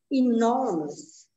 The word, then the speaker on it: enormous: The second syllable. No. Yeah. Enormous. Can I hear you say that? Enormous.